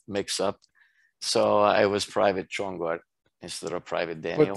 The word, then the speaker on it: Csongor: So it's pronounced Csongor. It's Hungarian.